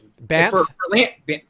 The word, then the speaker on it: Banff: Although I will say this, Banff up in Canada is Banff. Is it Banff? Yeah, it's like BANFF, Banff. Okay, I'm pronouncing every letter.